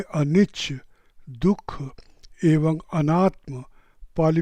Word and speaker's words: anicca: Roman लिपि में अनिच्छ की वर्तनी अर्थात अक्षर विन्यास या स्पेलिंग ANICCA होने के कारण पाश्चात्य देशों के लोग अनिच्छ का उच्चारण बहुधा अनिच्छा करते हैं तथा बर्मी लोग अनिस्सा करते हैं।